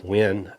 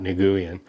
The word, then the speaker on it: Nguyen: Lemire and I hear a lot of people mispronounce the last name and this artist it's Dustin when it's a Vietnamese name not Nguyen so uh so I I picked this up